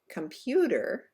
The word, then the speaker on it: computer: hamburger repeat hamburger good in the next word computer the second syllable is held out longer for a count of two because it is the stressed syllable let's try that together